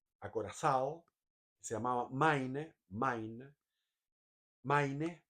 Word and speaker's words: Maine: se llamaba Main Main Maine Main se pronuncia y que llegó a